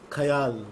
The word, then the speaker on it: khayal: Khayal, what you call khayal. Khayal, that's how we bongs pronounce it.